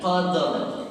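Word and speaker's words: قدر: Yang nomor ya, kita baca surah Al-Qadr, bacanya qadr. Sebab ada huruf 2 yang mati, huruf dal jama huruf ra.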